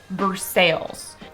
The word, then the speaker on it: Versailles: With that exact same spelling is a city that everyone pronounce it Versailles. Another example, keep going west, right past Versailles, and you run into another big city in Kentucky that is spelled like this.